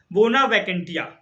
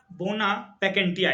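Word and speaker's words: bona vacantia: में बन जाएंगे फिर आपका आता है 13 बोना वेकेंटिया बोला बोना वेकेंटिया इसका मतलब होता है बोना वेकेंटिया स्पेलिंग है बी ओ एन ए वी सी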